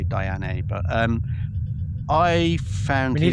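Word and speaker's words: Diané: It's spelled Diane with an accent on the E. So, I say Diane.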